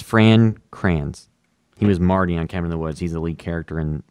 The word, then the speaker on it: Fran Kranz: Franz Kranz. I think his name, whatever his name was from Cabin in the Woods. How am I mispronouncing names? Yeah, it's Fran Kranz.